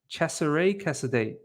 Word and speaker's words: Cesare Casadei: Pronounce Cesare Casadei. Cesare Casadei.